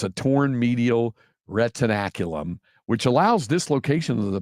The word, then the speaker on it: retinaculum: It is retinaculum. Retinaculum. It's a torn medial retinaculum, which allows dislocation of the posterior tibialis tendon.